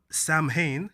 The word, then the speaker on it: Samhain: It's spelled Samhain, S-A-M-H-A-I-N, but it's pronounced Samhain.